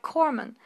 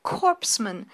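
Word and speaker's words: corpsman: Why was the public so unperturbed by the inongru signals of a supposed professor who can't pronounce simple words like corman saying instead corpseman even while reading from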